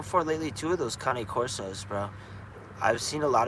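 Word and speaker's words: Cane Corso: of that, but um, it's Kanye, like Kane Corso. And I'm not saying that cuz I'm Italian, but like I believe that's how they say it in Italy is Kane Corso.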